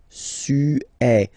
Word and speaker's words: Suède: Remember, accent grave, it's really open. Suède.